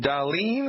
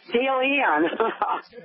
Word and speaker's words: Dalian: Talk to Darlene. I'm probably sure I didn't pronounce that correctly. Hello, Milwaukee. You are live. Hello. It's Dalian. Dalian.